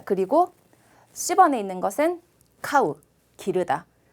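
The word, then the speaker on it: 飼う: 자, 그리고 C번에 있는 것은 카우, 기르다. 우리 그 사다라고 하는 가우, 살 때는 가우라고 읽지만은 키우다는 카우. 악센트가 저 카에 있어요. 악센트가 좀 다릅니다.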